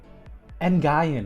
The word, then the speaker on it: Nguyen: Ngayen, that's how you say it, bro.